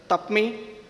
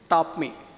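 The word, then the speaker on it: TAPMI: are pronouncing as a tap me some of them are saying tapai some of them are saying tap me Etc but that it is top me ta pi Management Institute so it is important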